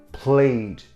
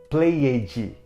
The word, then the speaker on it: played: Play no passado fica played, mas é normal falantes da língua portuguesa falarem played, enfatizando a vogal E e pronunciando o D com som de J.